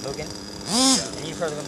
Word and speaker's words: Mugen: Oh yeah, the ones that I have, my Mugen, which is actually Japanese pronounced Mugen, and you've heard of them.